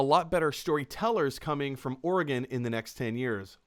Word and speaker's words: Oregon: For anyone just tuning in and you have no idea what she means by that, Eric is from Oregon. Oregon versus Oregon. Oregon, as in like the body part.